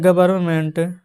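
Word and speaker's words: government: तो द गवर्नमेंट जी ओ वी ई आर एन एम ई एन टी यहां पर जो एन है ना वह साइलेंट रहता है।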